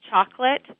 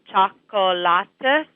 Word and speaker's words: chocolate: Sometimes they can add an extra syllable, like instead of saying chocolate, they could say chocolate.